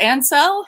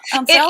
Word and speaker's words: Ansell: I can spell it. I know it a million ways. Is it Ansell? Ansell?